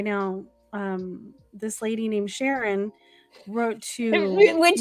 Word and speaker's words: Sharon: um this lady named Sharon wrote to which rhymes with which rhymes with Karen of course um since